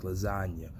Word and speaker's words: lasagna: Like, real G's move in silence like lasagna. You know what I'm saying? Like, the letter G in the word lasagna is a silent letter. So you don't really hear it when you pronounce the word, like Lil Wayne said in his verse.